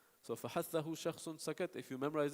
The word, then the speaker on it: فَحَثَّهُ: But how to pronounce it is فَحَثَّهُ.